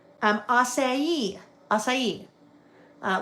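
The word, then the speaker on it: açaí: It's f even though it's pronounced pho. Um, acai.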